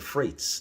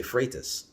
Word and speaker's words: Freitas: go up to the freights now that's how they say it there in the english forum but it's de freitas but by the time